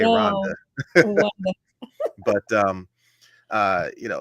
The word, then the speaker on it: Rwanda: so I have and they don't pronounce the W in Rwanda either they say Rhonda but um uh you